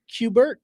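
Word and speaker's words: Q*bert: There's one pronounced Cubert. Cubert.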